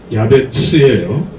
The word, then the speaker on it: 야베스: 야베스는 야베츠예요. 발음이 야베츠.